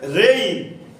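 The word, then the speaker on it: reign: তাহলে রেইন, তাহলে কি জির উচ্চারণ আমরা কিন্তু করছি না।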